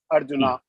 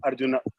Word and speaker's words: Arjuna: In English pronunciation, it goes a bit long, Arjuna. But if you say Arjun, it is the same wrong as Arjuna. Yeah, exactly. The correct pronunciation is Arjuna.